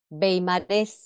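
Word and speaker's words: Weimar: wagneriano es relativo a Richard Wagner músico alemán beimar eh nativo de beimar Ciudad alemana también se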